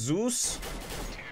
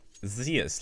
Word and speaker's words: Zeus: It's pronounced Zeus. I think it's Zeus. Zeus is like more Russian English. Zeus, like the god Zeus, you know, the god, one of the Romanian Roman gods.